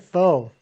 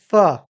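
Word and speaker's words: pho: Now, you're eating instant foe. I've never had foe. Is it good? It's pronounced fu.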